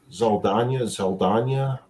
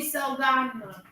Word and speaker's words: Saldana: Let me pronounce this right. Yeah. Wait. Keep talking. I'll be right back. Okay. Zoe Zaldana. Oh, yeah. Zoe Saldana.